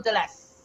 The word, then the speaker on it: Delise: Am I saying it correct? Is it Delise or Delise? Yes, you have it perfectly, actually.